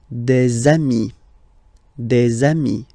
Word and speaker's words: des amis: You put this little link between the word. Des amis.